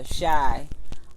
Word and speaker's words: Chi: And one thing too is, I don't know if you all watched this show, Shy, but Sharyn and I.